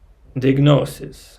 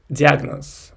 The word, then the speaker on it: diagnosis: But in Russian we say like diagnosis, and the stress goes on A, and in English it's diagnosis. So I need to switch my brain to pronounce this correctly.